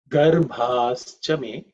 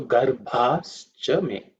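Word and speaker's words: गर्भाश्च मे: In terms of pronunciation, the second consonant is Bha. Bha is the fourth letter in the Pavarga. So it has to be aspirated with means a lot of air. You say Bha, which is the same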